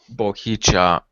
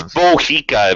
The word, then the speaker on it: Bika: have have the uh bicha or whatever uh how you pronounce I'm not sure oh it's Bika it means bend over